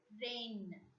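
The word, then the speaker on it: reine: Next vowel sound, A-I-E-I, which has to be pronounced as A.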